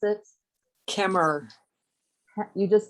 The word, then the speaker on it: Kemmerer: And her mother, I believe, lives at South Lincoln Nursing Center in, help me pronounce it. Kemmer. You just say Kemmer, That's right?